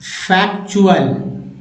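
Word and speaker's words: factual: जैसे सफिक्स आते हैं, तो टी का उच्चारण च होगा। क्या होगा? च। यहाँ पर च उच्चारण होगा, च। कैसे? देखिए, जैसे एक्चुअल, एक्चुअल, फैक्चुअल, म्यूचुअल, देखिए म्यूचुअल, ये देखिए चुअल आ गया।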